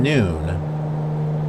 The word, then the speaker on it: Nun: noon there's Karima and noon Nu n or nun but I think it's pronounced noon yep Maro is a